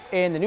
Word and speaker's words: Cony: CONY (RHYMES WITH TONY) PUT A BIG RUN TOGETHER IN THE FIRST HALF THANKS TO THEIR OUTSIDE SHOOTING.